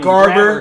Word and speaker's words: Garber: hand, drill sergeant's like, yeah, private grabber, because that's what they call me because they mispronounced my last name. Garber and But if it was grabber. grabber, there'd be two B's, not one B.